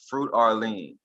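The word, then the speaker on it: Froot Orleans: at a place called fruit Orleans and it's spelled f-r-o-o-t and then Arlene is like New Orleans and that's going to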